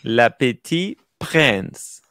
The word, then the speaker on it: Le Petit Prince: It's petit, and then prince. Le Petit Prince. There you go. Tim. Much better. Le Petit Prince. Prince. You have to say prince. Prince.